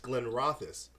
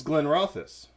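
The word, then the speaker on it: Glenrothes: rock this right right you're saying it wrong it says Glenn drop this and that's where I'm going is learning about this when office Glenn Rothfuss we're saying the same thing but it's Glenn ralphus it's Glenn but it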